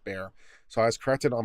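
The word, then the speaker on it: Bexar: that bear is pronounced bear so b-e-x-a-r is pronounced bear so i was corrected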